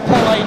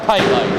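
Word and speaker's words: Pelé: And it's actually pronounced pelle, not payload.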